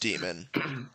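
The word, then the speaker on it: daemon: it's D Aon yeah it's still pronounced demon but it's spelled donon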